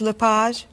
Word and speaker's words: Lepage: Is your last name pronounced LePage? It's Lepage, actually.